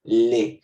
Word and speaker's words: les: En plural ya no hay masculino y femenino, solo hay uno, y es le. Se escribe L-E-S, se pronuncia le.